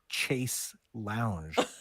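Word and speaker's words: chaise longue: dumb in America because we normally say like Chase Lounge so we we ruin the first word but then the the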